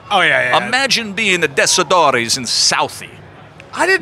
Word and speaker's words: Tessitore: Imagine being the Tessitores in Southie.